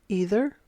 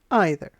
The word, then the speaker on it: either: Either can be pronounced either or either. Both pronunciations are correct.